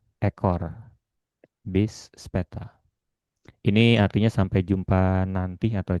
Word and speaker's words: später: Seperti "bis botak", "bis später", 'ä' umlaut ini dibaca ' e'. "Bis bald", "bis später", artinya sampai jumpa nanti atau sampai jumpa segera.